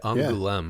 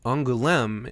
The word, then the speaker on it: Angoulême: Yeah, Angoulême, I believe, is how it's pronounced.